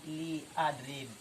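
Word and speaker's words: لأضرب: Kenapa dibaca adrib? Karena kemasukan lam amar. Li adrib, maka dibacanya zazm sukun.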